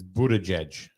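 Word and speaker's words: Buttigieg: Kanye nah uh Victoria says the how you pronounce it is Buddha judge okay is fetterman on the list I did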